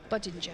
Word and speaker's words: Budinger: So, budinger budinger. Yeah, like ginger. Badinger.